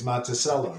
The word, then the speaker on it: Montello: you want to say Montello no if I were in Italy I would say I would say Montello but in Illinois it's monello yes so I I